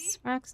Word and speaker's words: Svarog: Monitoring automaton Svarog. Extermination protocol launch. Successful. Annihilation permitted. Ooh, we're fighting against Sprog. Oh god. Calculating result. Here to crash the Now, party? Sprog's name in 2 syllables.